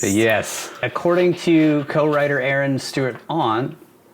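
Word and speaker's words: Stewart-Ahn: According to co-writer Aaron Stewart-On, I think that's how you say it, AHN, Stewart-on.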